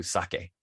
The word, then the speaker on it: sake: And no, it's not pronounced sake. Sake would be S-A-K-I, sake. S-A-K-E. E, when you see a Japanese word with an E in it, the E is always pronounced like it's pronounced in Spanish. It's E. All right, so pretty easy.